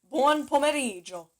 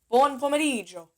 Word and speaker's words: buon pomeriggio: Don't pronounce the I know people are so tempted to go buon pomeriggio. No. I mean, I'm sure Italians will know exactly what you mean, so don't worry about it. But try to say buon pomeriggio. Pronounce the G and the I. Almost like you're saying Joe. Instead of Gio, say Joe.